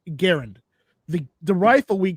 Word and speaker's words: Garand: people pronounced it but he said for the record it's Garand but if you want to say Grand I don't care yeah you know that